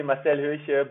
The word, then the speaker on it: Marcel Höche: We are back on Singletrack, and I'm here today with Marcel Höche. Am I pronouncing that correct? Marcel yeah. Höche? Yeah, you're not German. Not? Marcel Höche, both is fine.